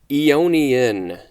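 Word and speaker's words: aeonian: can get so first word for today is ionian a-e-o-n-i-a-n it also says or ionic ionic a-e-o-n-i-c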